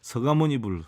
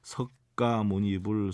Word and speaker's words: 서가모니불: 그래서 우리가 서가모니불, 석가모니불 정근을 할 때 어떤 가수들도 보면은 석가모니불, 석가모니불 이렇게 하는데 너무 잘못됐죠. 서가모니불이 맞습니다. 서가모니불. 여러분들 혹시나라도 뭐 발음 정확하게 한다고 석가모니불 이거는 사실 아닙니다. 서가모니불이 옳습니다.